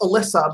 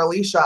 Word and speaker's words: Alicia: my relational name is pronounced Alyssa but it's spelled Alicia Li CIA so she goes by Allie but if someone insists on calling her Alicia I will eventually attract